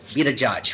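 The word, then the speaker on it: Pete Buttigieg: like bernie sanders uh pete peter judge who is right that's how you pronounce his name be the judge yeah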